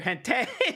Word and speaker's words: hentai: Or is it hentai or hente? Oh, God. It's pronounced hente.